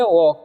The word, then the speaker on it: walk: तो इसे हम पढ़ेंगे वॉक। क्या पढ़ेंगे? वॉक पढ़ेंगे। ठीक है। एल जो है यहाँ पर साइलेंट है।